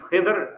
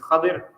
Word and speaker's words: Khidr: There's 2 pronunciations to his name. There's Khidr and there's Khadir.